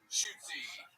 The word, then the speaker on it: Shootsy: One more time for Shoots, everybody. How do you say it? Shootsy.